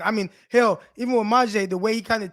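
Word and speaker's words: Myjai: How do you pronounce it? Maje or Maje Sanders? Maje Sanders.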